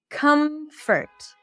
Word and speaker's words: comfort: Comfort. What are the sounds that I'm making? Comfort. Comfort. Comfort would be a cup sound. Come and then awah.